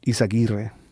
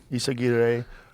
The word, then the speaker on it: Izaguirre: Izaguirre. Izaguirre.